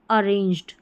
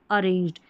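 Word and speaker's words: arranged: ए को हम अ करके पढ़ रहे हैं। आर बगल में है। तो अर करके नहीं। यह जो अ है ना इस पे थोड़ा जोर दिया जा रहा है। तो यहां पर ए आर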